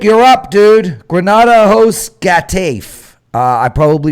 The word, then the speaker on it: Getafe: Granada hosts Getafe. I probably pronounced that completely wrong. How bad was that? Getafe. Okay. Getafe. Silent G. What? Well, they pronounce it with a heh.